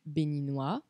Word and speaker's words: béninois: No francês, a junção do O e do I forma o som OA, como se fosse O e A. OA. Exemplo, béninois. Féminin, béninoise, acrescenta E.